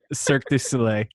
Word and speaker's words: Cirque du Soleil: say it like I can't sir thank you cirque du soleil is that that it did that happen right